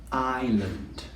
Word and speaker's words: island: You all may know the word island, but it's a difficult one to pronounce because it has a silent S. It has an S that we don't say.